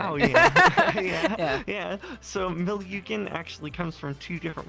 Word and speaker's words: Milyugen: By the way, is it Milyugen, or is that how it's pronounced? Milyugen. Yeah, Milyugen is how it is.